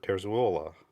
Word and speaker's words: Terzuola: He introduced himself in the video, said his name was Robert Terzuola. So I'm trying to say it correctly, even though I hear it mispronounced and pronounced a few different ways quite commonly.